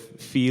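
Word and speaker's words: Ф: an ominous sort of fee logo we we actually found out Midway through the project that the proper Russian pronunciation of this ceric letter is f which is a little less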